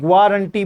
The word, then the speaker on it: guarantee: गारंटी spelling बहुत अच्छी है, ग्वारंटी बोलना है, ठीक है। GUA, GUARANTEE, ग्वारंटी।